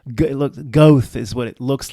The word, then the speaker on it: Goethe: looks like it's, I don't know how to pronounce it. It's like Goethe. Goethe is what it looks like.